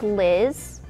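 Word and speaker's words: Lyzz: This is Liz, but it's spelled L-Y-Z-Z.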